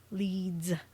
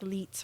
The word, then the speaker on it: Leeds: town area of Leeds leads I had to pronounce that cuz I don't want people think it's like leits or whatever walking past the nearby